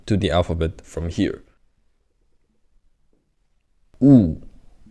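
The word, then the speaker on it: ㅜ: We added the stick downward. In the stand-up comedy, what do people do when they don't like a comedy? They put the thumb down and go ooh. So that's how you pronounce it, and that's what it looks like.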